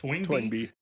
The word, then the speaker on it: Toynbee: How the hell do you pronounce that? Toynbee? Toynbee.